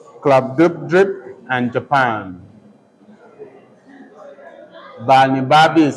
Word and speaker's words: Glubbdubdrib: Part 3 is entitled A Voyage to Laputa, Balnibarbi, Lugnak, Club-Dub-Drip, and Japan. Balnibarbi is spelled Balnibarbi.